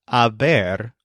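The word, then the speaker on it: haber: pronouncing this word as Aber almost like a bear that's because the letter H is always silent in Spanish so let's learn this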